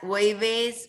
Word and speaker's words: jueves: Jueves, and you have to hear the ch.